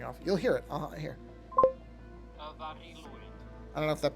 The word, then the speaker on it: Mari Lwyd: Marilwyd. That's the character's name and correct spelling. Now, here's how this is pronounced. Okay. This part is pronounced Mari Lwyd. That's how it's pronounced.